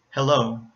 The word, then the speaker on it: hello: Another example, hello. So again, two syllables, hello. And the first syllable ends in a vowel, the second syllable starts with the consonant, hello.